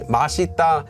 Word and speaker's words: 맛있다: says it as Mita so I recommend using masita and mad there you go but for those